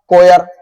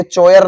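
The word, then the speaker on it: choir: है तो सोफर है जैसे कि एक शब्द आता कोयर तो यह चयर नहीं होता कोयर होता यह होती गायकों की मंडली तो वह प्रोनाउंस एशन आपका बढ़िया होना चाहिए तो वो भी सोनि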